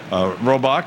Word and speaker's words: Robach: F they are amy robach and we've been mispronouncing your name just said it right okay robach and Charles McCord and we'll all be back